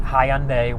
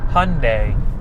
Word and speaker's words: Hyundai: I was calling it Hyundai when um the commenter, you know, said it's more it's more pronounced like Sunday. If you think about like the the day Sunday, it's pronounced Hyundai, more pronounced like that.